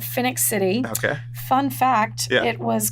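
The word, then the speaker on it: Phenix City: Now, let me make sure I'm pronouncing this correctly. It's Phoenix City. Phoenix City, yes.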